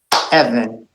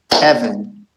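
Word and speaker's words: אבן: double Segal rule correct when you have two segals in a row you accent the first syllable Evan Evan everybody together Evan Evan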